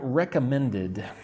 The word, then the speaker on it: recommended: Um, let's look at the word recommended. How many syllables? Recommended. So, four syllables. Recommended. Recommended. Recommended. Notice like men is where you put the strength, right?